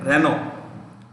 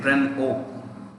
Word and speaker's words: Renault: a team called mclaren renault mclaren m c in the previous session i talked about how you pronounce this you can say renault you can say ren o so i just want